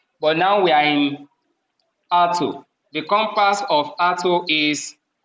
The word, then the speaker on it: alto: known as r2 alto some people will say autu so what you pronounce is this when you say auto so for the right pronunciation is r2 so alto is the